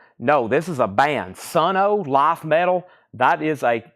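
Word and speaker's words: Sunn O))): of the band is son o but you don't say the O okay so it's just son Dave's dream says it's pronounced sonno so we have some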